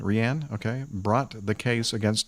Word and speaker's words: Rhian: and his wife Rihanna I guess that's the way you pronounce r h i a n Rianne okay brought the case